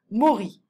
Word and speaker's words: Mori: Mori. M-O-R-I. Be careful of the O sound.